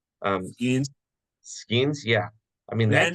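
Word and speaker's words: Skenes: How do you pronounce his name? Um, Skeens.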